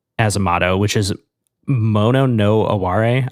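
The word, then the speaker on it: mono no aware: And then I also wanted to say they have a motto, the band as a motto, which is mono no Aare I believe is how you say it.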